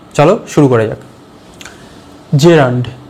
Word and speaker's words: gerund: আজকের ক্লাসে আমাদের টপিক জেরান্ড। চলো শুরু করা যাক। জেরান্ড, GERUND, মনে হতে পারে জিরান্ড, না, জি এর উচ্চারণ হবে না, ওটা জে উচ্চারণ হবে, জেরান্ড, জেরান্ড। ক্লিয়ার?